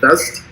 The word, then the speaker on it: Vezt: Vezt? Correct. All right, cool. Vezt.